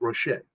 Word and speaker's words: Rocher: And the R is silent, right? Rocher. Yeah, because it's a French word.